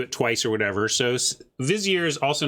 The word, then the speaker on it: vizier: Vizier. How many syllables is that word? 2 or 3? Two.